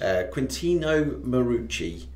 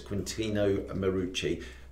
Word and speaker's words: Quintino Marucci: Quintino Marucci. Yep. I pronounced that right. We checked. We did check it. It's Quintino Marucci.